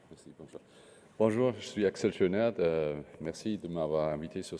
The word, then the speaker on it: Axel Schönert: avec Axel Schönert, je prononce bien? Axel Schönert.